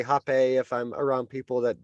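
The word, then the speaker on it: rapé: of father rapacho or rape or Hoppe um rape is spelled r-a-p-e so but with a hyphen on the E uh normally but so I tend to more say happy if I'm around people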